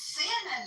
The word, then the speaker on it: salmon: The problem is though, you'll get the the English pronunciation and the American pronunci. No, it's salmon.